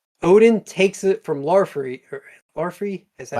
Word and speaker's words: Laufey: Larfrey, is that how you say his name? Laufey.